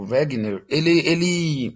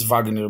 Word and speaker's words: Wegener: Bom, esse cara aqui, o Wagner, né, o Wegener, em português a gente acaba pronunciando às vezes Wagner mesmo, não tem nenhum problema, tá?